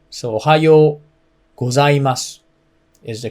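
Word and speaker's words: おはようございます: i just told you o is a little low and high o is a little high and you have to extend the oh so ohayou gozaimasu is the correct way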